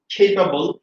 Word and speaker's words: capable: Fine, তাহলে উচ্চারণ হচ্ছে এইবল, টেবল, capable, say, day, may।